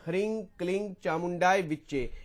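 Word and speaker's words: ह्रीं क्लीं चामुण्डायै विच्चे: लगा सकते हैं जी वैसे तंत्रोक्त रूप में जो लिखा गया है हमारे ग्रंथों में उसका यही उच्चारण है इ हरिंग क्लिंग चामुंडा विचे एक माला इसकी फिर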